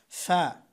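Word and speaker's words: ف: ফা, এই আলিফ, আলিফ যেখান থেকে উচ্চারণ করেছিলাম ফা অনেকটা সেখান থেকেই, এই উপরের দুই দাঁতের আগার সঙ্গে, দুই দাঁতের আগা এবং নিচের ঠোঁটের পেট, অর্থাৎ এখানে এই দাঁত এখানে আসবে।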